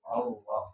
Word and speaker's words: Allah: Allah jadi o gitu ya. A jadi o gitu ya. Itu salah gitu ya. Allah enggak ada dalam apa namanya bahasa Arab itu enggak ada ejaan O.